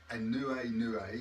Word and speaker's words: aNueNue: give you an idea this is pronounced a new a new a which is the Hawaiian for rainbow and it's a concert